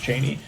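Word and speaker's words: Chani: Cheney is lore accurate. That it like like uh Frank Herbert specifically said it's pronounced Cheney.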